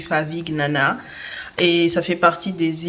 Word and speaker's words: Favignana: Que j'ai la bonne prononciation maintenant, c'est Favignana, pas Favignana.